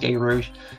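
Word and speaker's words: Gerouge: G-E-R-O-U-G-E. I think it's pronounced Gay Rouge.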